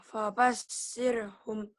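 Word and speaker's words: فبشرهم: Fabashirhum. Shinnya gede, fabashirhum.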